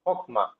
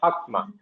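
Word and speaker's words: חכמה: Deacon Maman, how do you know this is Hokma, not Hakma? There is no presentation of impact here. Hello, sir. Yeah. So, Kamesh Hatu. Kamesh Hatu. It is Kamesh Hatu because it's an unaccented closed syllable.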